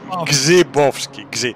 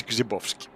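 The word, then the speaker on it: Grzybowski: Okay, and it is Gzibowski. You do not pronounce the R. It's Gzibowski.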